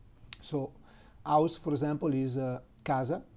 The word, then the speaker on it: casa: E, the five vowels, if the letter C is followed by A, U, O, it's pronounced like a soft K. So house, for example, is casa, C-A-S-A, casa.